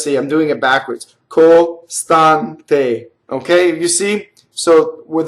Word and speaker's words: costante: So when E's and O's in Italian fall on a non-stress, costante, see the A is the accent again, they are closed.